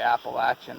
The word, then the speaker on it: Appalachian: They can't even say Appalachian the proper way. That's how you say it, from a local.